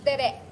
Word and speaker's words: tere: Sir, it's tere, accent on the second syllable.